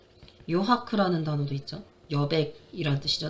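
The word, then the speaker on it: 余白: 그리고 이제 하크쇼, 그 다음에 요하크, 요하크라는 단어도 있죠. 여백이란 뜻이죠. 남을 여자입니다. 그걸 요라고 읽어요.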